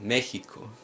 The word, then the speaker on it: Mexico: word Mexico now here the X is not pronounced helix or sir but rather more like the Spanish letter Horton so wha Hakka Mexico and the reason for this is because these